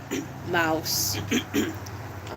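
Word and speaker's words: Maus: I also got uh Mouse um and I know that's not know how exactly you pronounce it because I'm pretty sure it's Mouse in German um but that is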